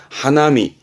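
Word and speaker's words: 花見: 이거를 꽃 화자에 볼견을 써가지고 화견이 아니라 꽃을 본다란 의미에서 발음은 하나미. 앞에서 언급을 드린 것처럼 뜻과 뜻으로 읽히는 거예요.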